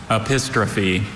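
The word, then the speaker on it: epistrophe: Apistrophe. Are there any alternate pronunciations? There's just the one. Apistrophe.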